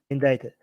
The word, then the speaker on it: indicted: you said indicated indict indicted why english is so weird why is there a c here if it's not going to be pronounced um guys make sure